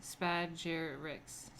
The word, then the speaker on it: Spagyrics: Thus, the aspiring alchemist seeks to separate these three parts and recombine them, giving rise to the word used by Paracelsus, Spagyrics, pronounced Spagyrics, in Greek for separate and recombine.